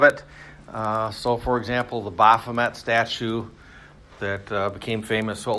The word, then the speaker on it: Baphomet: You got your laptops open, so if you just looked up, it's pronounced Baphomet, but typically we say Baphomet, whatever.